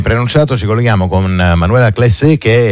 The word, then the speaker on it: Claysset: ci colleghiamo con Manuela Classé, che è la responsabile delle politiche di genere dell'UISP. Intanto io chiedo, Manuela, è giusto dire Classé? Sì, Kleiset, ma va bene. Allora, è un po' più alla tedesca.